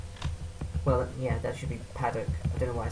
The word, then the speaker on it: Paddock: Well, yeah, that should be Paddock. I don't know why I said Paddock. People just mispronounce the name Paddock quite a lot, as it turns out. They seem to think that the O requires extra, what is it?